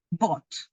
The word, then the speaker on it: bought: pronuncia todas estas letras se pronuncia Bot como si esta esta y esta no estuviesen b o t bought Joe bought a New